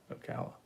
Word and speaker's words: Ocala: Mike's pronunciation is correct. Ocala.